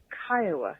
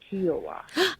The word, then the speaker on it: Kiowa: I had the segment in front of me, but it's Kiowa, not Kiowa. Oh, Kiowa.